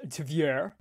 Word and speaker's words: Tver: Because as daylight broke over Toropets in the Tver Oblast, better pronounced Tver, Russia's 107th GRAU arsenal was engulfed in flames following a Ukrainian drone strike overnight.